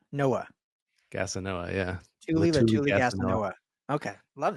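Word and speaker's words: Letuligasenoa: Tuli Latuli Gasanoa. Oh, that's okay. That sounds easier than Latuli Gasanova. Noah. Gasanoa, yeah.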